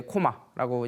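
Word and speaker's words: 高麗: 이 코마라는 발음 자체는요 고려라고만 쓰지는 않아요. 그 짐승을 뜻하는 변에 뭐 백자를 붙여가지고 고마라고 쓰기도 하고요. 클 것자에 1만 만자를 써서 우리나라 말로 읽으면 거마잖아요. 거마. 예, 거마인데 그걸 이제 코마라고 이제 표현을 하기도 합니다. 우리나라 어 발음이 일본에서는 오로 발음이 되기 때문에 그러면 그게 또 코마라고 읽히기도 하죠.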